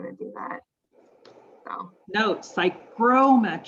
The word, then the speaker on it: psychrometrics: So Note, psychrometrics, sorry, not psychometrics, right?